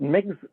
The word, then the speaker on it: Mx: and put, I think the pronouns pronounced Migs rather than Mr. or Ms. Mm-hmm. That's right. I think it's spelled like MX, and I've asked how it's pronounced.